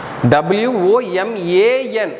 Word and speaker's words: woman: what is a woman w-o-m-a-n it should be pronounced as woman w-o-m-e-n that should be